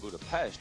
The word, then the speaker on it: Budapest: here in the Hungarian capital of Budapest or Budapest as it's pronounced straddling the Danube River about 100 miles